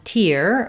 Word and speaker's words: tier: at tier and tier this noun tier meaning the level like the stadium had three tiers uh has the same pronunciation as this tier um the noun of crying a tear um so both of these have the ear diphthong we often do write